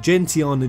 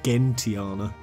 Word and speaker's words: Gentiana: I'm not, however, converted from Gentiana just yet to Gentiana.